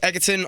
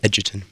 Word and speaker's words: Egerton: you could say it otherwise right I get agaton I get eaten I get Edgington but the correct pronunciation is as you so beautifully put Edgerton and but now you'll get eggsy Oh Artu